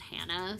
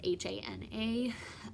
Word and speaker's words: Hana: It can also be pronounced Hannah, so it's Hana.